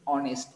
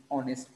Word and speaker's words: honest: We are not saying honest, we are going to say honest. उच्चार ओ नी होतोय, ओ पासून वाचायचं आपल्याला. So therefore we people are going to pronounce it honest person.